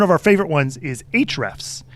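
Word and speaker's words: Ahrefs: our favorite ones is HR F's and it's spelled kind of weird it's a the letter a and the h r e FS h r s and it's a it's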